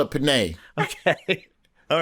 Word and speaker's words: penne: And it's penne. I don't know how you say it, but it's penne. I'm from Alabama. We call it penne.